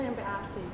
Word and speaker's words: MPASI: Sebenarnya bacanya ini empasi atau MPASI atau empasi sih Mbak? Kalau kami sih menyebutnya MPAC.